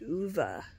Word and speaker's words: Ove: I wonder if they made such a big deal about him saying Otto, O-T-T-O, because in the book, it's spelled O-V-E, but it's pronounced Uva.